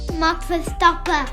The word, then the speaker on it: Max Verstappen: Dans le trio de tête du classement fin 2020 du circuit international de Formule 1, on retrouve Max Verstappen, qui se prononce d'ailleurs Max Verstappen.